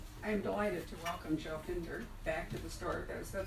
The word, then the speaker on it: Finder: It is Finder. It is. Rhymes with Tinder and Cinder.